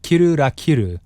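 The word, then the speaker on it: キルラキル: Finally, the title itself, when pronounced in Japanese, is kiru ra kiru.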